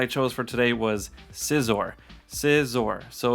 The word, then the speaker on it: Scizor: chose for today was scissor scissor so it's like a lot some people say caesar or scizor or scissor but it's scissor and uh you know